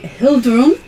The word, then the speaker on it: Hilddrum: Uh, I am playing Hilddrum. Um, who I normally call Hilddron, but I'm trying to be better at pronunciations.